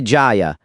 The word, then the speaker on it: Jia: My surname is Ja. J I A Ja. President Ja.